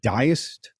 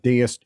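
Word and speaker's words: Diest: was like huh uh i don't know if i have the pronunciation down it's diced or i'm pretty sure it's not deist but it's d-i-e-s-t and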